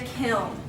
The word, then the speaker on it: kiln: put it in a kiln so account and this is how you spell it you pretty much just say kill him so you put in